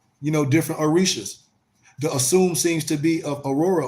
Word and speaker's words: Osun: When I talk about the fourth Orisha, which is the warriors, the group is Osun, pronounced Osun, represented by a metal chalice, fringed with jingle bells, and topped by a rooster.